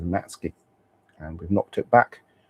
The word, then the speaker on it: Matsuki: We're calling him Matsuki tonight because all the players call him Matsuki Matsuki even though apparently the correct pronunciation is Matski.